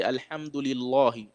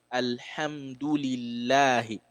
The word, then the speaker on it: Alhamdulillahi: You have to open your mouth and pronounce it lightly. Alhamdulillahi. So you don't say Alhamdulillahi. That's wrong, right? It has to be Alhamdulillahi.